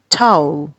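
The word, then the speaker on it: towel: है वो टॉवल है जिसको हम लोग बड़ी आसानी से पाकिस्तान में टॉवल कह देते हैं टॉवल बल्कि पाकिस्तान में तो ठ भी नहीं कहा जाता टे का साउंड होता है टॉवल कह देते हैं टॉवल which is not correct it should be टाऊ इस तरीके से हमारा जो इंटेस्ट इंटेस्टाइनल एरिया होता है।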